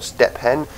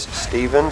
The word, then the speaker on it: Steven: make people make sure my name is not steepen it is Steven so never understood why uh the spelling pH pronounces it as a v but yeah I actually